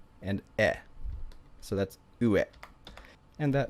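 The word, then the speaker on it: いい: So you have e and then e again. So when you put these next to each other, it just makes the pronunciation longer, so it becomes e, and that means good.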